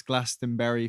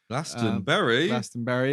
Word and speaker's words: Glastonbury: for the world famous glastonbury festival lasting berry is that like the strawberry it's like the strawberry and uh it's the correct way of pronouncing the english festival um at least according